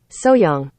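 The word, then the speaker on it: 소향: pronounced it would be hyang hyang hyung but often our Korean instructor lets us know that when it's pronounced fast the H is left out a lot of times like so young so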